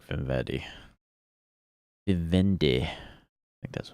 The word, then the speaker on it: Vivendi: Vivendi. I think that's how you pronounce it.